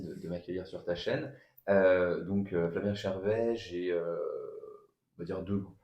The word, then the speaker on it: Flavien Chervet: J'ai le plaisir d'être avec Flavien Chervet, c'est bien comme ça que ça se prononce.